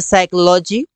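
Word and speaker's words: psychology: हैं इससे य पर देखिए इसे बोलते हैं साइकोलॉजी न्यूमोनिया निमोनिया सम न्यूमेटिक्स इस प्रकार से बोल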